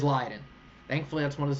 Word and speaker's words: Leiden: and then question 15 how is Leiden pronounced is it pronounced Leen or Leiden it is um it is Leiden and my source is somebody who lives in the Netherlands so it is lien thankfully that's one of